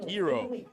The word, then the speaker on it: gyro: sounds magnificent I appreciate a good gyro or hero as they pronounce it in uh in Greece that's like the proper pronunciation of it but I'll be damned